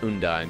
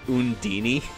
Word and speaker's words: Undine: How do you pronounce Undine? Do you say it like Undine, Undine? Undine. Undine. Yeah. Tales of Symphonia pronounces it Undini.